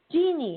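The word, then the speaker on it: Jeane: hi how you doing is it genie or jean it's tv genie how do you spell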